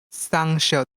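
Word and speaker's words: 쌍시옷: Sangshot.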